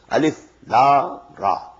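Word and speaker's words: الر: These are pronounced separately, and so they are the broken into pieces. Not pronounced as Alif Lam Mim Alam, no. Alif Lam Mim. Alif Lam Ra Alar, no. Alif Lam Ra. Now the meanings of these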